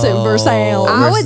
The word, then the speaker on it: Versailles: As in Versailles. But they pronounce it Versailles. I would say Versailles.